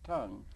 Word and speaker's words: Tang: and it's pronounced it's it's spelled Tang but it's pronounced tongue new tongue Dynasty is how we